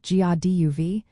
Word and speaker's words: Dia daoibh: The right way to use dadeib, which is pronounced like gaduv, is as a plural greeting, meaning hello to you all or God be with you all.